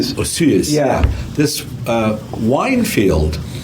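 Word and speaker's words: Osoyoos: And I watched the other episode too way out in uh British Columbia um with the I can't pronounce the town. Um, osuyas. Osuyuas.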